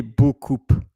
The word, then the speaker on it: beaucoup: B-E-A-U-C-O-U-P. And of course, you don't pronounce the P. You don't say beaucoup.